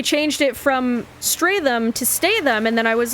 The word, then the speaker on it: Statham: However, half the time, the narrator pronounced his name Jason Statham, and the other half of the time, she pronounced his name Jason Stratham.